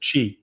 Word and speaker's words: Qi: Whenever you see like a a key charger or QI or whatever, it's just like Chee. take the copper Pronounce chee. It's chee. It's Chinese.